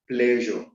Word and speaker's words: pleasure: Pleasure ends with E, but the E is not pronounced.